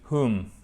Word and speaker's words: whom: To whom. Ça veut dire à qui on ne prononce pas le W et on fait bien notre H ici. To whom.